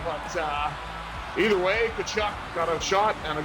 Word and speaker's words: Tkachuk: I'm going to say he rhymes with F-U-C-K, but either way, Tkachuk got a shot and a goal.